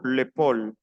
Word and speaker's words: épaule: L'épaule, AU se pronuncia O, l'épaule.